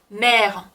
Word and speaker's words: mère: 또 어머니 mère.